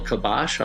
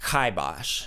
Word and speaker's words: kibosh: really what put the final kabash on us it's pronounced kibos you know maybe this